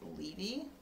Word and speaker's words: Levy: Karen says it's pronounced Levy, like a Levy. New Orleans has a Levy.